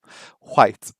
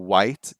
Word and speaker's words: white: Um, there are some people who still have like an H sound in some words with an H. White or whale, right, instead of a whale.